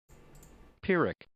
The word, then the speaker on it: Pyrrhic: That's another one of those words I see in print all the time, but never have cause to pronounce. Let's settle this. Pyrrhic.